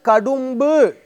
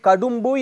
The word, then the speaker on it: கடும்பு: அது மட்டுமல்ல, மைந்தர் மனைவியர் கடும்பு என்று ஒரு வார்த்தை அந்த இடத்தில் கடும்பு என்று இருக்கும். தவறிப்போய் கடம்பு என்று உச்சரித்து விடக்கூடாது.